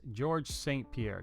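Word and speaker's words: Georges St-Pierre: Is it St Pierre? Let me double check that because I don't want to say it wrong. Yes, George St Pierre.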